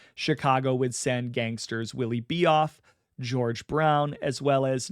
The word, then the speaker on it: Bioff: Willie Bioff, or Bioff, as it's pronounced, was a Jewish mobster